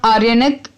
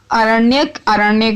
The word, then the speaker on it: आरण्यक: आर्यनक, अगर मेरी pronunciation wrong है तो प्लीज डू एक्सक्यूज मी, ठीक है। आरण्यक बोलेंगे इसको, सही है, आरण्यक।